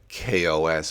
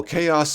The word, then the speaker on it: KaOS: with the unfortunate name I know it's pronounced k-o-s but Windows users aren't going to know that they're going to say oh chaos OS sure let me